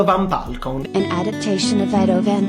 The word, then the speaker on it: van Belkom: And I tell people, Edo like potato, Van Belkom like you're welcome. So potato van welcome, Edo van Belkom.